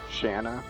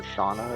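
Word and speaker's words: Shana: This is an instance where her name is pronounced Shanna or Shauna or something, and I choose to pronounce it Shayna.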